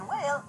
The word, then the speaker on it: whale: The first two letters in whale are WH. They stand for one sound, not two. That sound is W. Did you notice that the word whale has a long A sound in the middle?